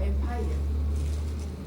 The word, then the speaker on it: empire: Empire or empire? Empire. Empire, first syllable stress.